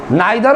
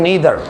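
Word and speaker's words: neither: पर कहते हैं आइदर, लेकिन दोनों में ये प्रोनाउंसिएशन चलते हैं। ब्रिटिशर भी बोलते हैं, अमेरिकन भी बोलते हैं, आइदर और ईदर, नाइदर और नीदर।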